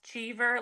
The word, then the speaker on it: Chever: So, my last name is pronounced chver. Like I overachiever.